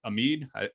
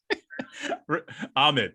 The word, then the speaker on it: Ahmed: have sound of metal which has riz ahmed or amid do you guys know how to say his name no okay ahmed let's go with ahmed uh and then you